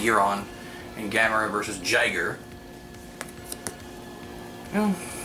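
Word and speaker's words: Guiron: Sometimes known as Weirin, but I believe it's pronounced Giron.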